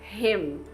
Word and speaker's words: him: Então a palavra é him, que é ele, né? Him. Então quando tiver um M final no inglês, você tem que encostar os seus lábios, fechar a sua boca.